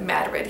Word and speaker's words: Madrid: They pronounce it Madrid here.